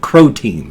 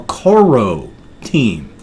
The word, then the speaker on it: Croteam: they pronounced a more Koro team so it's like core o team but the first leg